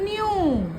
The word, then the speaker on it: knew: EW dew, dew, FEW few, NEW new, KNEW new. K is silent here, okay?